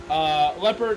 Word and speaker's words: Leopard: confirm, leopard is pronounced like the animal.